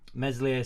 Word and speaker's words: Meslier: Meslier Silent S has been at fault for 2 of the 3 goals.